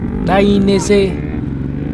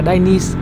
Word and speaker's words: Dainese: Tiếp theo, cái thương hiệu này đọc là Dainese, đọc theo tiếng Ý, bởi vì đây cũng là một thương hiệu của Ý. Thực ra đôi khi đọc theo kiểu Anh là Dainese thì cũng được, vẫn hiểu.